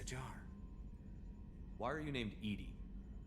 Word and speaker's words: EDI: airlock is a jar why are you named Ed Ed is the pronunciation of e di that is an acronym